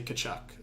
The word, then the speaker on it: Tkachuk: Tkachuk. I say Tkachuk. I feel like that's the proper way to pronounce it.